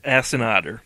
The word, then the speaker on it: Asiata: Assinotter.